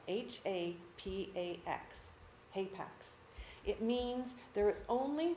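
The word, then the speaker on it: hapax: it's likely Jacob's Ladder because ladder is a hay Pax in the Bible that's your new word for the day Apex it's spelled h-a-p-a-x Apex it means there is only one occurrence of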